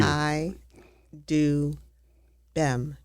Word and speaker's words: Chidubem: It's Chai Doobin. Am I close? Very close. You're You're much better than prior times. Thank you. Chai Doobin. B E M. You have to pronounce that B.